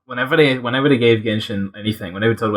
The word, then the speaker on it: Genshin: fact is is that to willingly mispronounce genshin as jenshin means that someone has